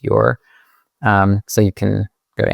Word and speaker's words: Ure: And the book is published on Amazon, and you can just search Wayfinding and then my last name, which is spelled U-R-E. It's pronounced your.